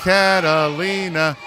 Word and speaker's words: Catalina: It's 4 syllables, people. Victoria. Look, Catalina.